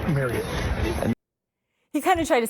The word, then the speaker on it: Marriott: on this fan ambassador trip, it's Marriott.